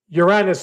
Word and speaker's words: Uranus: Uranus is the real pronunciation, in case you're keeping score.